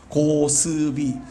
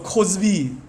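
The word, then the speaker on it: כָּזְבִּי: 고스비, 성이 고시가 아닙니다. 히브리 말로 코즈비 이렇게 발음해야 되는데 고스비라고 하는데, 코즈비라는 이 이름의 뜻이 거짓말쟁이, 사기꾼, 속이는 자라는 뜻이에요.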